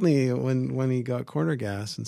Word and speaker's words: Corner Gas: He pronounced it like you just did. Corner gas. Oh, geez, yeah. Instead of corner gas.